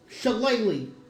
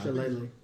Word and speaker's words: shillelagh: Shalala is looks like it's Or Shillelagh. Yeah. Either one. Shillelagh. No. Shillelagh. You're cutting Hey, off a whole Shillelagh. syllable. Yeah, the GH. That's not. It's silent.